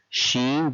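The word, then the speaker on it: شين: Sheen, just like the sound of SH in the word sheep.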